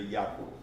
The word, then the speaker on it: Jarkko: vez, é Jarkko, mas a pronúncia em finlandês é Jaakko.